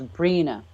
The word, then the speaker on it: Brianna: The way he pronounced Brianna was Brina.